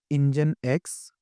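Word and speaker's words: nginx: ई से मुराद है इंजन एक्स। ठीक है? इसके स्पेलिंग है यह इंजिंग्स। ठीक है? लेकिन इसको इंजन एक्स भी कहते हैं।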